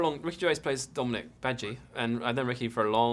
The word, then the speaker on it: Badguy: And they are offered management by a very interesting gentleman called Dominic Badguy, who seems to be, very Badgie. Sorry, not Bad Guy. Badgie. He's spelled Bad Guy, but it's actually pronounced Badgie.